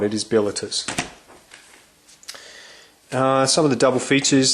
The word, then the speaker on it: Bilitis: Yeah, and it is pronounced Bilitus. I always thought it was Bilitis, but it is not. It is Bilitus.